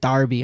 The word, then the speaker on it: Derby: You had an angry Brit in your comments telling you to pronounce it Darby.